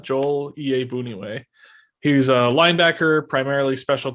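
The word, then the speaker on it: Iyiegbuniwe: uh i think it's ea boonieway and the g is silent joel ea booneyway he's a linebacker primarily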